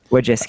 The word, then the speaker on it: Wojcicki: Wojcicki. There's an extra C.